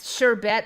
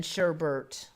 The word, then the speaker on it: sherbet: syrups and sherbets sherbits some of us remember it was sure Burt not sure bet there was a while I thought that sherbet was different than sherbert then I Now understand that Sherbert is gone and it's sherbet it's safe to consume